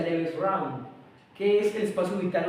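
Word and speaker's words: Lebensraum: vital, como en alemán le en alemán se pronuncia leves round.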